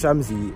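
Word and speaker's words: Shxmzy: It's pronounced Shamsy, S-H-X-M-Z-Y, you get me?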